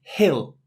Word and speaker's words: he'll: And he will goes even further into he'll. It almost sounds like we're describing a small mound, a hill, but it's the same pronunciation.